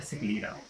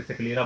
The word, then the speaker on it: sclera: ये outer lawyer जो होती है इसका नाम होता है सिक्लीरा। तो सिक्लीरा जो होती है ये वाइट होती है, and outer lawyer white outer lawyer होती है सिक्लीरा। लिख देते हैं इसकी स्पेलिंग SCLERA, सिक्लीरा।